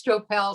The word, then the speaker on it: Stroppel: My name's hard enough to pronounce, so Julie can tell you. You know, it's Stroppel, Stroppel, whatever, you know. And when I went to Sandy Camp is the name of the retreat out in California. And I was rooming with Misha, and we were checking in. And of course, everybody had this big discussion about how do I pronounce my name, Stroppel, yeah. And it is Stroppel.